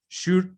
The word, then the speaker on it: should: Ojo, estas palabras que tienen LD o LK al final, la L no se pronuncia. Should, ¿ven? No se pronuncia la L al final, should.